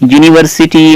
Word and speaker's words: university: But here when we pronounce the university, 1 rupee note or one-eyed girl, otherwise European, this produce a different sound. University in that Y, it means different, it means here the consonant sound.